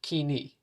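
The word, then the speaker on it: koine: as the common dialect or kini this is spelled k-o-i-n-e by the way Kini is alternatively known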